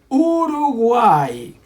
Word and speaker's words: Uruguay: Y la respuesta correcta es Uruguay. Because the R here is soft, okay? Between vowels.